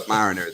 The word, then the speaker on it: submariner: me remember that would sub-mariner not a mariner a submariner yeah sure pronounced that over here Submariner so that way it doesn't sound like we're a delinquent sailor delinquent is subpar bad